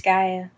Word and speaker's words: Disgaea: Best Handheld Game, we've got Akiba's Trip, Undead and Undressed, Bravely Default, Disgaea 4, A Promise Revisited, Pokemon Omega Ruby and Alpha Sapphire, and Pokemon! Super Smash Bros. For the Nintendo 3DS. It's Disgaea.